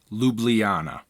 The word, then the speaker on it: Ljubljana: just a couple of pronunciation notes his name is pronounced slavoy Zizek and the city that he's from is pronounced Ljubljana Zizek has been influenced by